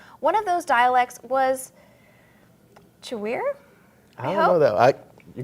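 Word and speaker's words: Chiwere: One of those dialects was Chewir? I don't know that. You go for it. It's spelled kind of like Chicago and then weir, but it's a language that is now slowly fading away.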